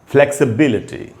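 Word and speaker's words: flexibility: तो दोस्तों ग्रेविटी है, उसके बाद जो वर्ड है वो है फ्लेक्सिबिलिटी। फ्लेक्सिबिलिटी, इसको कैसे ऐसे उच्चारण कैसे हुआ, इसको जनरली बोल लेते हैं हम लोग फ्लेक्सिबिलिटी, फ्लेक्सिबिलिटी, लचीलापन, फ्लेक्सिबिलिटी।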